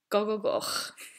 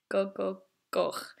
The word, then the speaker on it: Gogogoch: And everyone's favourite part, Gogogoch. Gogogoch. So, Llanfair Pwllgwyngyll go ger chwyrndrobwll, Llantysilio Gogogoch. Now, let's try that one more time, slowly. Llanfair Pwllgwyngyll go ger chwyrndrobwll, Llantysilio Gogogoch.